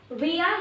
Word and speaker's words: via: तो अभी उसी क्लास को कंटिन्यू करते हुए अब नेक्स्ट है विया या फिर वाया। इसकी जो प्रोनाउंसिएशन है उसमें आप इसको विया भी बोल सकते हो या वाया भी बोल सकते हो।